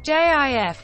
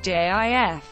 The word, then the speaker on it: GIF: this Brand's television commercials the word is now also widely pronounced with a hard G as in gift the American Heritage dictionary sites both indicating JF as the primary pronunciation